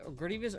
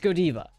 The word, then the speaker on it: Godiva: And in Belgium, it's pronounced Godiva. In the place of its origin, it's pronounced Godiva.